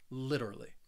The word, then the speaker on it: literally: me literally again you because I am from the United States I say this word more with that flap T sound so that t in the middle it's going to sound like a a soft D sound it is a subtle D sound literally literally and the